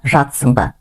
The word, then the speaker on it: жатырсың ба: «Кір жуып жатсың ба?» Пишется «жатырсың ба», но произносится «жатсың ба». Здесь мы посередине две буквы «ы» и «р» как будто проглатываем и произносим «жатсың ба».